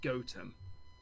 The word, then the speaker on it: Gotham: to me called gotham but it's spelt it's pronounced gotem oh man it really is so close has